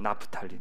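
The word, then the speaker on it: נַפְתָּלִי: 자, 하나 더 낳았는데 납달리, 나프탈리입니다. 우리 히브리어 발음은 나프탈리, 나프툴림에서 나온 말이에요.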